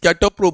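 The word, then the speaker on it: catoptro: इसे पी T silent रहेगा, इसे कैटोप्रो बोलते हैं।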